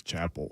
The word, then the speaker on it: Chappell: I think it's Chapel. Is it really? Yeah. Chapel okay. Roan. I believe that's right, yeah. Chappell. Like Dave two L's. Chappelle? Yeah, that's how it's spelled. But Chapel.